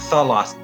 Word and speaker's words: Thalassa: How to pronounce Thalassa? Yeah, Thalassa.